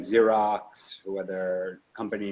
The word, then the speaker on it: Xerox: you have companies like Xerox where their company names are multi-billion dollar company and they're they built a good brand for themselves in their company starts with an X when they pronounce it Z I think they're probably